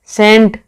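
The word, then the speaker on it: scent: जिनमें साइलेंट सी होता है वो देख लीजिए, सीन, सेंट, ठीक है।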